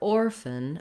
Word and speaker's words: orphan: All of my length and stress goes on the or, and then the fun syllable is going to be very short. I'm trying to move as quickly as possible from the F to the N sound. That's called a syllabic N.